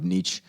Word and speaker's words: Nietzsche: We talked about meaning and purpose, and people lacking maybe this purpose, and maybe you bringing up Nietzsche.